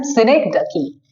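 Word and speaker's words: synecdoche: लिए यूज किया गया है जिसको बोलते हैं सिनेक्डकी। आप देखिए यहाँ पे यूज हुआ है सिनेक्डकी। ओके, सिनेक्डकी स्पेलिंग क्या है?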